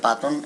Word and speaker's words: Patton: O sea, ellos querían tomar Berlín para pasar a la historia, pero que el general Patton, o Patton, pero más bien se pronuncia Patton en inglés, sabía bien que Berlín era el gran botín.